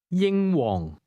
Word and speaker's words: 英皇: Did you hear the high and low level tones in that name? Say it again. 英皇， Here's the Cantonese word for road, which is pronounced with a low level tone.